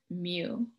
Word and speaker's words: mu: with the greek letter mu uh it's pronounced like a cat mew um and so as